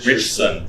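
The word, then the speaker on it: Ritchson: Richson. Richson. Rich son. It's a weird way to pronounce the last name, but yo, Richard Richson.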